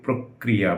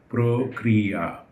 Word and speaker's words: প্রক্রিয়া: প্রক্রিয়া, আমরা ভুল করে এটাকে প্রক্রিয়া মানে কটাকে 1.5 বার বা 2 বার উচ্চারণ করে থাকি, আসলে এটা হওয়া উচিত প্রক্রিয়া।